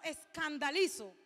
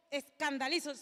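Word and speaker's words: σκανδαλίζω: Esta palabra tropezar es un término proveniente de una raíz griega que más o menos se pronuncia como escandalizo.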